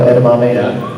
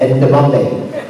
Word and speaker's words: edamame: she's funny cuz she she mispronounces uh edamame you know edamame she pronounces it end deom end deom sounds like like an African sure that was pretty